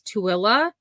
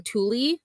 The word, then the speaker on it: Tooele: It's Tooele. I was saying Thule. Definitely not I was not saying the correct pronunciation. It is not Thule, it is Tooele.